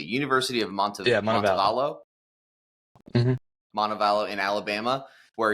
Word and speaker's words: Montevallo: Tell me if I'm pronouncing this correctly. University of Yeah, Montevallo.